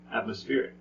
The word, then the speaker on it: atmospheric: next up atmospheric atmospheric atmospheric mm-hmm that's right it is the second to last syllable why because of the I see okay um there